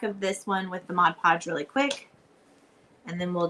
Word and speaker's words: Mod Podge: So, you're just going to take your Modge Podge and Mod Podge. I know people get upset if I don't say it right.